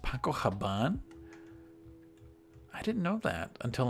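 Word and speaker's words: Paco Rabanne: olympia paco paco haban did you know it's pronounced paco haban i didn't know that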